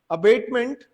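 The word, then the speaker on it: abatement: दोनों का जो प्रोनाउंसिएशन है लगभग एक जैसी सी है। अबैटमेंट इसको बोला जाएगा और ये है अबेटमेंट। अबैटमेंट और अबेटमेंट, अबैटमेंट, अबेटमेंट, ठीक है।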